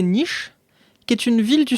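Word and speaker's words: Niš: Mais du coup Nice à ne pas confondre avec Nice écrit N I S avec un circonflexe inversé sur le S H prononce prononcé niche qui est une ville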